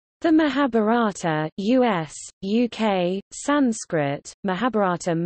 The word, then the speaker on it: Mahābhāratam: the Mahabharata us-uk Sanskrit mahabharatam mahabharatam pronounced ma ba TM is one of the